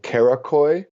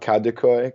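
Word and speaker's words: Karaköy: perhaps I would recommend kakoy not kadikoy kakoy is a very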